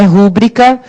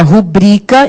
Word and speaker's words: rubrica: A pronúncia é esta, não é rúbrica, como muita gente quer nos enganar aí fora, não é? É rubrica, e se a pronunciar é rubrica, qual é a sílaba tônica? O rubrica, está lá no BRI.